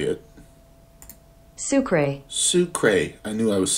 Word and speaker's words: sucre: one thing let's see how to say it sucre sucre I knew I was saying that wrong